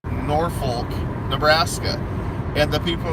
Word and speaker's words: Norfolk: to knock north for I don't say live in north I say I live in Norfolk misdemeanour fold sounds like